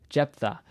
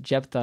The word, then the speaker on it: Jephthah: My humble opinion, my amateur opinion, Jephthah is a really bad transliteration of Yiftach's name, of this character's name, because it's not actually how you're supposed to pronounce his name in Hebrew.